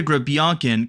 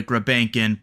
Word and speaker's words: Grebenkin: e and things like that so for Nikita granin coming into this season is pronounced like that in Russia but we'll probably be saying Nikita grankin before long but for today's show we're still